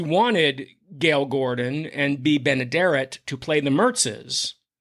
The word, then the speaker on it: Benaderet: country mhm and B and you'll have to pronounce her last name for me I always get it wrong benaderet B Ben benaderet she played the Banker's wife Gail Gordon's wife